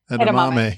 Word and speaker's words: edamame: Edamame.